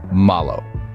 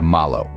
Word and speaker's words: malo: in Spanish we say Malo diving right in let's break down the pronunciation of Malo the first syllable ma is pronounced much like the ma in Mama the a sound is